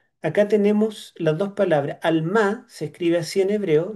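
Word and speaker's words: עלמה: Alma se escribe así en hebreo, de derecha a izquierda.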